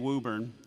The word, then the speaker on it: Woburn: MassVet is located in Woburn. I did have to learn how to say that because it's spelled Woburn, Massachusetts, just outside of Boston.